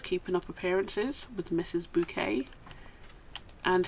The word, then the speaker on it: Bucket: bouquet and her name was spelt bucket but she insisted you pronounced it bouquet it wasn't bucket there you go so